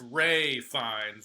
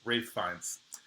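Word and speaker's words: Ralph Fiennes: It's Ray Fines. I don't care. But no, apparently Rafe Rafe Fines.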